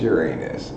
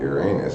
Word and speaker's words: Uranus: It's pronounced Uranus. They tried to change the pronunciation of it some time back because they didn't want it to sound like Uranus, but Uranus is not much better. It still sounds like urine, which is my second